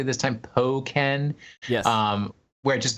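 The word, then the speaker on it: Hoenn: like the burst in poen tournament did I pronounce it correctly this time poen yes um where it just becomes more powerful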